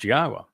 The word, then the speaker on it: Yahowah: person to tell you that Yahwa's name is pronounced Yahwa and explained exactly why and proved it.